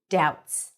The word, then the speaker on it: doubts: confused as Ron's doubts no B doubts doubts doubts now forced